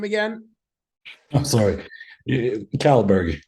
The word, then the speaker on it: Kållberg: name again I'm sorry calberg is probably the easiest way to pronounce it he's a former bodybuilder